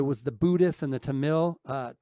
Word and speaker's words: Tamil: the Buddhist and the Tamil uh I think you pronounce it Tamil but t t a m i l uh which is